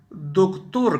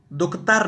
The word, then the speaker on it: دکتر: دیکھ رہے ہیں ڈاکٹر۔ ڈاکٹر کو فارسی میں دکتور کہتے ہیں۔ دکتور، دکتور، دکتر نہیں کہنا، دکتر غلط ہے اس کی تلفظ، دکتور۔ اور ٹیچر کے نیچے